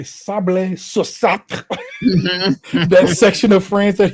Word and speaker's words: Sablé-sur-Sarthe: the Sarthe department of France that is called Sablé-sur-Sarthe.